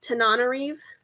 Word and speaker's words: Tananarive: I have been saying her name wrong the entire time that I've been promoting this book and talking about it, but I'm pretty sure that it is pronounced Tananarive.